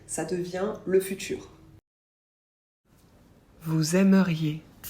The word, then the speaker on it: aimeriez: Vous aimeriez. Pour vous, on ajoute IEZ qu'on prononce yé. Là aussi, faites bien attention à ne pas oublier de prononcer le I parce que sinon, ça devient aussi du futur.